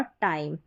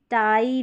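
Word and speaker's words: tie: अब ऐसे पढ़ दे कि पी टी डी ली ऐसे नहीं। पाई टाई डाई लाई।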